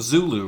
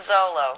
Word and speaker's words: Zolo: Yeah, you're with the House of Zulu, right? House of Zolo. Yes. Zolo, sorry.